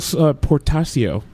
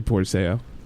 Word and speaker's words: Portacio: Will Portacio, which is actually Portaseo.